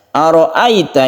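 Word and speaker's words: أرأيت: Ara'aita ini harus lemas karena di sini ada sifat lain. Disebut mad lain itu karena lemas ya, lemas. Jadi sukun ya itu sebelumnya ada fathah itu kita lemaskan, jangan kaku membacanya dan menuju huruf i.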